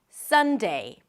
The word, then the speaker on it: Sunday: Make sure you transition from one vowel to another, that you actually hear the E sound at the end. Not de, but day. Sunday, Sunday.